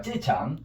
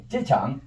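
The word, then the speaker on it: 机场: 일성과 사성이니까 지가 돼가지고 쏘름으로 해봐. 찌창. 창은 어떻게 돼? 위로 좀 내려와서 이렇게 다시 도로 내려왔다 올라가야지. 찌창.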